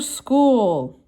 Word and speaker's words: school: do you spell it this one's a little tricky it has a ch in it but it's not the c sound it actually sounds more like a k an s k go